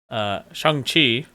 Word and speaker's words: Shang-Chi: Yeah, but it's like It's like that G almost disappears.